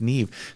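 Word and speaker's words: Niamh: pronouncing the name right it's actually an Irish name okay I had to look up how to pronounce it but I think it's pronounced Neve they said truthfully I'm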